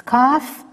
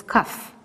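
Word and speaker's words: כ: We have studied already a letter which you pronounce K. That was Kaf. And here we have Kof. So be careful. Both of them you pronounce K. If you remember, the Kaf, sometimes you pronounce Kh. But Kof, you always pronounce K.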